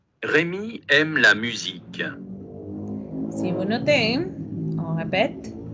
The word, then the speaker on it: musique: Notez les I de Rémi et la mu de U, no decimos musique, c'est musique, avec les U. Acuérdense que es una U con un tono de I.